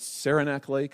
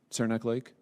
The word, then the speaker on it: Saranac Lake: you were using a Dakota what is it Saranac Lake is that how I say it I've never been there is that is that the right pronunciation Saranac Lake that was your destination yes so did you